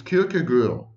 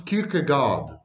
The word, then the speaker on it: Kierkegaard: yes in danish it's kyoko girl but in english it's kierkegaard we don't pronounce names in english as they are pronounced in the original for example we say